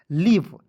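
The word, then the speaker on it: leave: ल है तो देखिए एल है तो ल लिखेंगे और याद रखना है ई ए रहेगा ना जी तो इस इ ए का उच्चारण बड़ी के रूप में करेंगे ठीक के और भी का उच्चारण व के रूप करेंगे और अंतिम में जब ई आता है तो ई का उच्चारण नहीं करते क्या हो जाएगा लीव एल ई एवी ई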